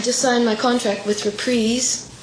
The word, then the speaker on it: Reprise: I just signed my contract with Reprise. That's Reprise, not Reprise. I learned how to say it right, too.